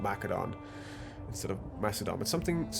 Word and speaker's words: Macedon: Also, thank you for people that advised me on how to pronounce something, as I was calling it Macedon. It's of course Macedon, because the Greeks used a hard C.